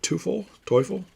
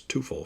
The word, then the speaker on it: Teufel: Jerry Narron, Len Whitehouse, Floyd Bannister, John Lowenstein, Marvell Wynn, Eric Davis, Tim Teufel is how it's actually pronounced, but I think it was Teufel for him.